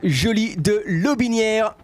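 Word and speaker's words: Joly de Lotbinière: Flo, most likely from the family with the same family name, and it's Jolie de Lobinière. It's French Canadian. Thank you so much. The T is silent.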